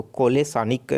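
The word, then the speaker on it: Kolesnik: तो कोलेसानिक जो सनिक है, कोलेसनिक इस तरीके से इसका उच्चारण है, कोलेसनिक, इनके द्वारा जो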